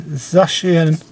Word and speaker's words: Zacian: It's pronounced, it should be pronounced Zacian, but official media pronounces it as Zacian or Zacian.